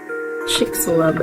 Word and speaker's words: Chicxulub: Yeah, but it's like Check. Chicxulub.